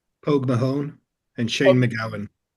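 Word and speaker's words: Pogue Mahone: And I realize that I have mispronounced uh Pog Pogmadon. Uh would someone else like to pronounce it correctly? Pog Mahon and Shane McGawan.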